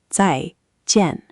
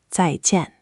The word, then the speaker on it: 再见: Both syllables are 4th tone, so it's 2 little falls in a row. 再见, 再见.